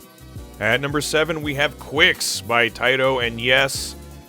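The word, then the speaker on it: Qix: number seven we have Quicks by Tito and yes that's how it's pronounced if you're reading the Japanese Katakana even though for decades I was convinced this game was called Kicks this is about as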